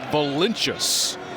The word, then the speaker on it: Valincius: Valincius and that's right, brothers pronounce their last name differently. So, neither brother pronounces it the way that it's supposed to. The parents native Lithuanian, the way that they pronounce it as that ball is a foul is Valincius. But neither choosing to go that route, they're going their own route.